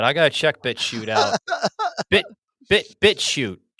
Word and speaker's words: BitChute: BitChute. Is that how you say it? BitChute? B-I-T shoot. B-I-T-C-H-U-T-E. BitChute.